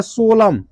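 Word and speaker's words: solemn: इसमें एम, एन साइलेंट था। क्या था साइलेंट? एम। एन इसमें साइलेंट है ना? तो अब इसको क्या पढ़ेंगे? इसको पढ़ेंगे सोलम।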